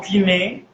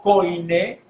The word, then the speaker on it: Koiné: el momento, que es el griego kiné, mal dicho koiné. Eso es como decir el apellido Guevara. No es Guevara, es Guevara, porque Omicron Ixilon es un dictongo y no se dice koiné o koinonía, no se pronuncia así.